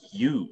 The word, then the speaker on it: eu: this eu spelled one because english speakers pronounce this u the same as the u in utopia peculiarity of english that